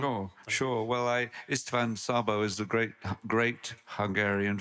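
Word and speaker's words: Szabó: year of that um I don't know if I'm going to butcher the pronunciation but is ishan shabo shabo the Hungarian filmmaker you sh Sabo you play three generations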